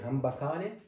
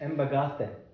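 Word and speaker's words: Hamba kahle: And it is called In Zulu, it's pronounced in a very different way. In English, I can say hambakale, but it's embagate, actually, in Zulu.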